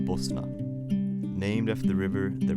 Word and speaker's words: Bosna: Bosnia in Bosnian is pronounced Bosna named after the river that runs through it.